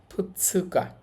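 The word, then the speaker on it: ふつか: উচ্চারণটা হবে ফুৎসুকা। ফুৎসুকা অর্থ হচ্ছে দুই তারিখ। উচ্চারণটা কিছুটা ব্যতিক্রম। ফুতাতসুকানা সহজে বলার জন্য ফুতাতসুকা না বলে ওরা বলে ফুৎসুকা।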